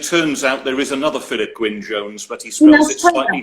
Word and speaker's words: Philip Gwynne Jones: Today, I will be talking to Philip Gwynne Jones, renowned Welsh author of mystery and suspense novels living in Venice.